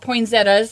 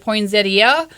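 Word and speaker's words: poinsettia: so I'll talk about poin Zetta or is it poin Zia it's however you prefer to pronounce it um the poin Zetta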